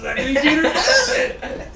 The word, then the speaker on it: Zachary Jeter: Zachary Jeters.